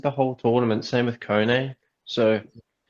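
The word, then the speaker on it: Koné: It's Kone.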